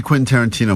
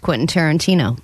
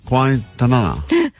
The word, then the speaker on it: Quentin Tarantino: And she's never successfully pronounced Quentin Tarantino. That's true. All week, as she's been talking about this prize we have, she's been saying, Quentin? Quintanana.